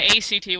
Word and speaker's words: ACT: learning some of these skills that dbt and a CT which will to our act on its you're supposed to pronounce it like it is on which we